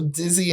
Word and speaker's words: DIZE: The easiest one for me, if you just want to contact me directly, it's DIZE Image. So Dizzy Image is the way it's pronounced.